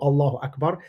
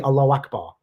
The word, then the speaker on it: Allahu Akbar: In Arabic, you don't say Allahu Akbar. You say Allahu Akbar, not with a prolonged vowel at the end.